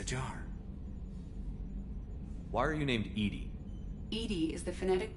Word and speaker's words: EDI: airlock is a jar why are you named Edy Ed is the phonetic pronunciation of e that is an acronym for